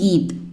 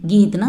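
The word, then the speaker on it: गा: பாட்டு, பாட்டு அப்படின்னா ஹிந்தியில் Keith, கீத்னா song, Keith, Keith, Keith, Keith. பாட்டு பாடுங்க, கீத் காவோ, கீத் காவோ. பாடு, பாடு அப்படின்னா கா. இது ஆக்சுவலி கா கிடையாது, க, க, க, க அப்படின்னு ப்ரொனவுன்ஸ் பண்ணணும். பாடு கா.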